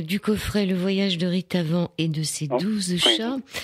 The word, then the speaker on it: Ritavan: Alors là, on parle du coffret Le Voyage de Ritavan et de ses 12 chats. En fait, comme c'est un nom, excusez-moi, comme c'est un nom hindou, on dit Ritavan.